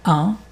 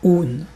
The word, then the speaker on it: un: Enfin un. Nain. Pour lire ça, tu penses qu'il y a pas de a. Donc nain sans a et un nain. Un est pas oun.